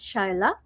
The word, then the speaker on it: Shaila: so uh the first one how do we pronounce your name your full name correctly please yeah so first name is Shyla last name is thank you um counselor